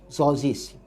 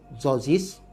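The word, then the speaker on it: Tzortzis: Hamzah Zozis. Ejaan dia T-Z-O-R-T-Z-I-S, kalau tak salah saya ejaan dia Hamzah Zozis.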